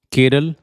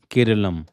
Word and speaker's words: केरलम: केरल या सही उच्चारण में कहें तो केरलम।